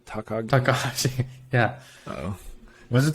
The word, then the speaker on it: Takagi: Takahashi? Takagi.